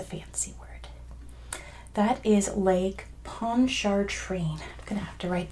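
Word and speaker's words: Pontchartrain: to it's a fancy word that is Lake ponchar train I'm gonna have to write that one out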